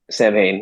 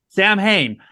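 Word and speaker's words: Samhain: south ham how do you say that uh samane yes Sam Hayne so so yeah I'm gonna I'm gonna play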